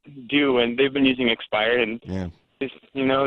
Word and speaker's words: Xpire: a moment ago your expire and by the way it's just spelled with an X not an e x x buyer that that's